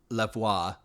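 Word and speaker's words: Lavoix: this person's name oh I wrote down a pronunciation key for this one because I was very confused it's lavoir lavois La okay and she's 40 43 from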